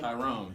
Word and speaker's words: Tyrone: play in the show I play Tyrone okay and you even say it like you own it like Tyrone like what's your name my friends call me it's Tyrone uh this is relatively